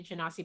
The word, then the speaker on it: Genasi: I personally am fine with either pronunciation. I do Genasi, but I'm not going to sit here and fight with somebody who's like, it's Genasi. I was like, okay, according to Gygax, you're correct.